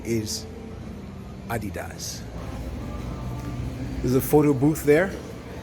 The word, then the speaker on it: Adidas: the USA she had started getting used to pronouncing it as Adidas but that the pronunciation is Adidas is a photo booth there and that's the